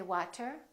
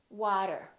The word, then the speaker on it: water: more words with the T between two vowels repeat after me water water we don't say water we say water Otto Otto automatic we